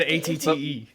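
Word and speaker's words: AT-TE: It's not Acte as you would pronounce it? It's not. I said ATTE.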